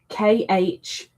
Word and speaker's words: Khadijah: It is spelled Khadijah. So it kind of looks like Khadijah, I guess. You've got to ignore the K completely because it's a silent K, but it is pronounced Khadijah.